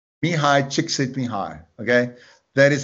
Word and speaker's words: Mihai Csikszentmihalyi: Mihai Csikszentmihalyi. Mihai Csikszentmihalyi. Okay, that is how you pronounce it.